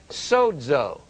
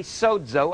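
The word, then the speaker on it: σῴζω: zeta when you say sodzo when i say sodzo i mean sozo i don't mean sozo it is pronounced dz dz and what's that word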